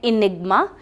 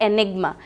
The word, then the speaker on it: enigma: The pronunciation can बी टू। एक word का pronunciation हो सकता है इनिग्मा और दूसरा प्रोनाउंसिएशन हो सकता है एनिग्मा। ये ई से भी स्टार्ट हो सकता है और ये ए से भी स्टार्ट हो सकता है और दोनों ही प्रोनाउंसिएशंस इसके करेक्ट होंगे।